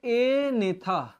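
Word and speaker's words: Agnatha: जिनम जज नहीं होते इनको कहते हैं एने यह जी जो है यह इसमें साइलेंट है एने मतलब विदाउट ज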